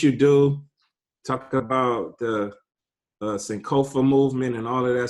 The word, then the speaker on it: Sankofa: Talk about the Sankofa movement and all of that stuff.